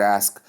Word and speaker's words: ask: The lesson you should learn from how to on how to pronounce the word ask is that's you pronounce the s before the k not the other way